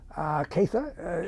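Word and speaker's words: Catha: Katha is the way she pronounced her name.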